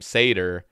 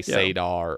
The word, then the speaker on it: Sader: And so when people try to call me by my first name, Sader, they'll say Sadar or Sador.